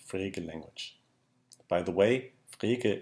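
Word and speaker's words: Frege: language by the way freekeh is a little bit difficult to pronounce if you're english and if you're english europe you are allowed to call that freaky if you want to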